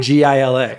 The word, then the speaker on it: Gila: It's Gila monster. Really? Gila. Maybe I just my eyes gloss over and I want to call it the Glia monster.